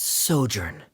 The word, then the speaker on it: sojourn: well is everything clear simos how do you pronounce this word let me see Ah that's sojourn it means to stay for a while this